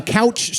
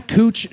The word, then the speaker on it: Couch: It's over there on Couch Street. Oh, excuse me, Cooch Street. Yeah. The McDonald's on Cooch Street is delish.